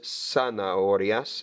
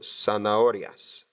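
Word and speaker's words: zanahorias: to say in spell the Z pronounced like an S sana aureus and the H is silent so son arias carrots las uvas las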